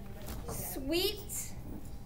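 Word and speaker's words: suite: prelude texture impressive interlude sweet not s-w-e-e-t but s-u-i-t-e sweet expressive sonata operetta romantic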